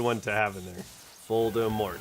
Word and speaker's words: Voldemort: Voldemort. It's got the three syllables.